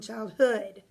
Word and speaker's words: childhood: I had an amazing childhood? That's right. That first syllable is where you are stressing. Okay? So that first word, child, is where the stress is. That's where the accent goes.